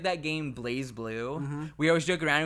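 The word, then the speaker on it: BlazBlue: there's that fighting game blaz blue also people get so pissed and like no it's blaze blue just cuz the E isn't there doesn't mean it's not pronounced that way and I'm like all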